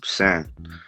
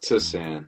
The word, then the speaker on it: Tsan: And the T is silent like tsunami. So it's not TSAN. It's not TSAN. It's no extra in the front. It's just San. This is important, man. This is extreme. This is it is. And no, it's a common question with me. You feel me? Like nobody knows how to say it. So to set it straight, it's San. It's just sand, like sand at the beach.